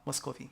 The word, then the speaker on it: Muscovy: Muscovy. No, Muscovy. Yeah, I've seen it before. I've never pronounced it that way. It's Muscovy. Muscovy.